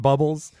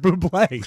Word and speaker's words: Bublé: him to opening a restaurant called Ham and Bubbles, and they sold ham and champagne. And he said, "But my name is pronounced Bublé."